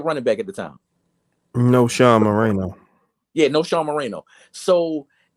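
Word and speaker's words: Knowshon Moreno: No Sean Moreno.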